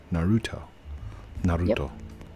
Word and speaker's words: Naruto: Naru to Naruto Naruto not a little Naruto there's three syllables on Naruto explosion time that was